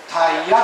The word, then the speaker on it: 逮夜: けども、逮捕のタイという字に下に寄ると書いてタイヤです。